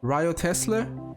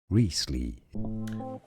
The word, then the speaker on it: Wriothesley: test rile test hmm I know the spelling is confusing so it's not right officially reesley so I refuse you can't just erase letters like this I understand silent letters but listen William Shakespeare